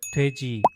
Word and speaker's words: 돼지: often see the word 돼지 or 돼지고기 on Korean menus. The first letter in 돼지 is this one, and its sound is similar to the English D or T, but Korean also has